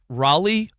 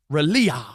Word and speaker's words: Raleigh: and oo for real calls Raleigh like Raleia Ralea Ralea